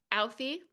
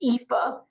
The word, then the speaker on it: Aoife: Hi, Alfie. It's actually pronounced Aoife. Yeah, I thanks, knew I Ava. was going to say it wrong. I'm so sorry. It's an Irish thing.